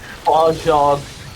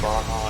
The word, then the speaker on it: Baja: Yeah, it's a Spanish word, and you pronounce yeah. J as in, like an H.